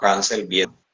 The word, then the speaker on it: Ansel Biederman: señor que se llama Ansel Biederman, que se pronunciaría como Hansel Biederman, que es hijo de